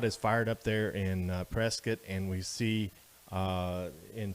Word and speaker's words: Prescott: it it looks like prescott boy don't say that when you're around here local pronunciation and the correct pronunciation is prescott so we're gonna be